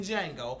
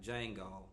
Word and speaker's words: Django: So I spell Jesus like Django, but of course the D is silent.